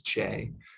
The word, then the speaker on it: CHE: environment and we often abbreviate it as che and pronounce it as che so together j and